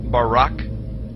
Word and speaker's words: Barak: brightness or a glittering the Hebrew word is Barak so lightning or a flash of light in is pronounced Barack or Barack now consider this amazing